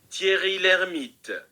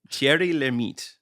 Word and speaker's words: Thierry Lhermitte: and apparently it's pronounced like this. Thierry Lhermitte. So Thierry. Yes. Although I feel like I always put a little like roll like I'm speaking Spanish on names with double R's. I feel like this pronouncer's also hitting the t syllable at the end a little hard, but Thierry Lhermitte.